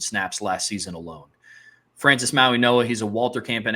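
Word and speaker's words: Mauigoa: Francis Maui Noah, he has 26 career starts.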